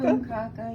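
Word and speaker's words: krumkake: kroomkake, yes, it's a Norwegian cookie.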